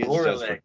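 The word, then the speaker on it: Gorelick: Gorlick. That's a cool band name. Yeah, and it's literally spelled phonetically. It's G-O-R-E.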